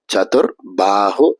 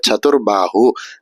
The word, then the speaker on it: சதுர்பாஹு: இதுல வரக்கூடிய சேவானது முதல் ச அப்படிங்கிறதுனால அழுத்தி சொல்லாம சதுர்பாஹு அப்படின்னு சொன்னா போறோம். இதுல வரக்கூடிய பாஹு அப்படிங்கிற வார்த்தையில ப அப்படிங்கிற வார்த்தை 3வது பாவா இருக்கிறதுனால சதுர்பாஹு அப்படின்னு சொல்லணும்.